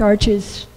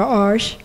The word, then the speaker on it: Arches: and i had uh i do like arches or arsh whichever pronunciation you prefer paper and most of